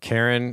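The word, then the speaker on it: Caryn: standard it's like why c a r y n oh well sarah it's not karen but she's totally a karen yes she's so okay say her name one more time it's karen what karen elaine johnson elaine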